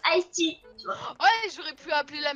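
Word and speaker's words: Aesty: Non, en fait, ça s'écrit A-E-S-T-Y et ça se prononce Aesti.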